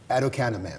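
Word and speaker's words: aducanumab: to be able to pronounce it so it's pronounced adoc canap adoc canap yes yeah and so there's hope for that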